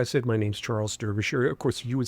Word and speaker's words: Derbyshire: I say Derbyshire. I adopted my grandmother's pronunciation.